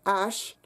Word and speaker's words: haches: So when we look at the plural forms of the word and ash, we see that the S at the end of les can become a liaison with but not with ash.